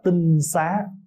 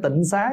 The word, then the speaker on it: tinh xá: gọi là tinh xá tinh xá chứ không phải Tịnh Xá nha Bây giờ mình đọc hơi trại là chữ tịnh xá đó chứ đúng đọc là đúng cách cách đọc là tinh xá là cái nhà trong